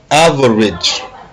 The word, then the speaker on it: average: let's go number one average aage average l'accent est mis où sur le a average on dir on